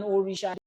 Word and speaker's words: orisha: Ogun is an orisha. They don't need for orisha. Just say orisha. It's easy. Orisha. Just say it like that. Say it. It's easy to pronounce.